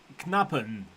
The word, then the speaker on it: Knappen: Rick says it is phonetically Knappen. It's a Belgian name, so you pronounce the N.